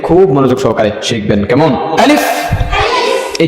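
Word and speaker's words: ألف: আলিফ, এই যে ঠোঁটের ভিতরের দিকে গেল আমারটা, কেমন? আলিফ আলিফ আলিফ আলিফ আলিফ আলিফ, আবার আলিফ আলিফ আলিফ আলিফ আলিফ, বা।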